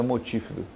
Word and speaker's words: multífido: Fala pronúncia é multífido.